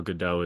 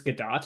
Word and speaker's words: Gadot: And his response was, oh, Gal Gadot is so hot. Or Gal Gadot is how you pronounce Yeah, it. do you know it's Godot?